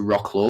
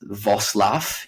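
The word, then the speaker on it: Wrocław: drove down um to rock law or I think it's pronounced vosl in Poland um and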